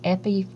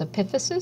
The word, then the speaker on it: epiphysis: the ends of the bones eposis uh some pronounce it as Epis and I learned it as epiphysis so I'm going to say epiphysis and eposi